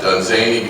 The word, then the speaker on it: Dunsany: just don't I mean we need a mnemonic for the pronunciation of uh uh uh done zany because there have been